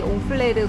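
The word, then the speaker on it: Honfleur: 여기 옹플뢰르 관련된 기념품들이 많이 보이네요 여기도 되게 분위기 좋다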